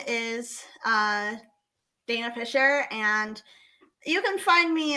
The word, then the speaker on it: Fischer: socials sure so my name is uh Dana Fisher and you can find me on most platforms